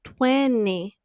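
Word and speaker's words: twenty: Então a pronúncia de 20 no inglês americano vai ser 20. É como se eles ou deletassem esse T ou colocassem um outro N.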